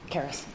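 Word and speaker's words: Caerus: Caris.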